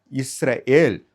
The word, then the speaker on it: இஸ்ரேல்: இனி நாம் இஸ்ரேல், Samuel, Emmanuel அப்படின்ட்டு அழைக்கணும். ஏனென்றால் இப்போ நம்ம எல்லாமே பார்த்துட்டோம்.